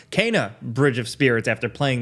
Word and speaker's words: Kena: little bit late but today we're talking about kina bridge of spirits or i actually learned it's pronounced cana bridge of spirits after playing the game uh